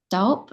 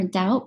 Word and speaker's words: Dalp: It's a podcast by Daniel I think his last name is pronounced Dalp or Daup.